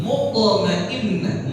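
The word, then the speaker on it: مطمئنة: Sudah nafsul mutmainnah mut ada th sukun di situ qalqalah sugra mud mud mud mudmainnah mutmainnah. Nah ta marbutah itu kalau dia diwakafkan menjadi apa?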